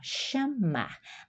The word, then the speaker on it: chamar: Ah, ó, esse o ch é como o X que começa, tá? Na a pronúncia, ó, chamar.